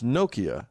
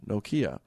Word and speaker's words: Nokia: only if it's finish I should put the emphasis on the first syllable ladans I don't know why but I think that's a thing in the in the Finnish language it's why it's it's Nokia not noia oh interesting anyway uh